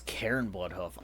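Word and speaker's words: Cairne Bloodhoof: If I had to guess, Bane is going to be Oh, it's Karen Blood Hoof.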